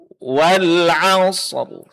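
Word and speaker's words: والعصر: Kemudian kita sukunkan wal 'asr. Wal 'asr. Baru setelah itu kita gabung wal 'asr. Wal 'asr. Wal 'asr. Wal 'asr. Wal 'asr. Jangan terlalu lama jeda waktu antara huruf shad dengan ra ya.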